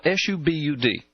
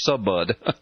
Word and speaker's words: Subud: And it's spelled s u b- u d. It looks in in English it would look like it would be subbud but it's pronounced subud.